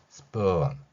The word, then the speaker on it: spoon: 한 번에 첫 소리에 시옷과 쌍비읍을 표현하면 여러분들은 어떻게 발음하실 것입니까? 스푼. 분명히 이렇게 소리 낼 수 있을 것입니다. 스푼이 아니라 스푼. 이 발음이 여러분들이 가능할 것이라는 것입니다.